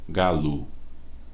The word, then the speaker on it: galo: Por exemplo, a vogal O da palavra galo tem som de U, galo. Nem por isso grafamos a palavra com U.